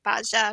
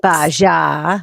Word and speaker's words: Baja: He's a business coach for digital marketing agency owners, and he's originally from Madison, Wisconsin, and is now located in Baja, Mexico. Not Baja. Oh, I'm pronouncing it wrong.